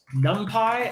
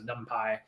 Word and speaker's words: NumPy: some helpful math functionality um so numpy some people pronounce it numpy i think these people are wrong but you know whatever